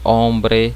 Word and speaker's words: hombre: Palavras escritas com a letra H, certo? A letra H do português. Então a gente não vai pronunciá-la, certo?